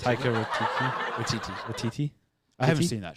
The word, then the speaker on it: Taika Waititi: Taika Waititi. Taika Waititi.